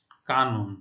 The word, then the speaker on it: কানন: কানন, ঠিক আছে? কেন? কারণ হচ্ছে যে মধ্য অ দন্ত ন, তার পূর্বে রয়েছে আ ধ্বনি, সেই জন্য মধ্য অ এর উচ্চারণ ও এর মতো হচ্ছে কানন।